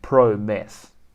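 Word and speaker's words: Promes: with my accent quincy prom's promise is quincy pro mess donnie van der beek boy were you wrong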